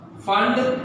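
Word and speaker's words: Pfund: और Brackett series, bracket end फंड series. P silent है बेटा। सो Lyman series, person series, Brackett series end फंड series.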